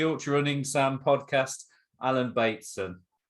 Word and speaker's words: Bateson: running Sam podcast Alan Bateson how you doing Alan batemanson sorry mate I've got your name wrong already oh it's date soon you were right first time is it baby it